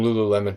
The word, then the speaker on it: Lululemon: you'll be like I want you know some Lululemon pants is that how you say it yes